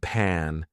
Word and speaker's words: pan: crucial like pen and pan two completely different words you see how I open my mouth when I say pan that makes a huge difference bad versus bed two